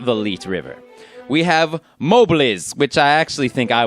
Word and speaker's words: Mobliz: We have Mobliz, which I actually think I was the only one who ever mistakenly pronounced as Moblitz, like it has a T in there.